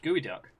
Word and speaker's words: geoduck: to be accidentally insulting but it's pronounced gooey duck today we learn all